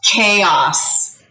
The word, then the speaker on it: chaos: seen this word before it looks like chaos because ch says cha and a usually says a and o usually says ah so chaos this is pronounced chaos like so let's do a